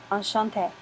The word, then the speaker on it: enchanté: And notice there's a spelling difference for masculine with one E versus feminine with two E's, but they're pronounced exactly the same, enchanté.